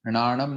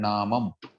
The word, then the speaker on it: णामं: तीसरे चरण में णाणम नहीं णामम।